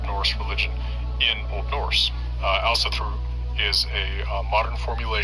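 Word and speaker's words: Ásatrú: of different guises is Aosatru, to use the modern Icelandic pronunciation of that word, which seems to be most common among practitioners of the religion.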